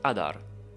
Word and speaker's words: Adar: The asymmetry of Adar's design doesn't end with his sword.